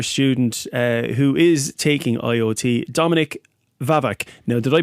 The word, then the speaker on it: Dominik Wawak: And we also have third year student who is taking IoT, Dominik Wawak. Now, did I pronounce that correctly?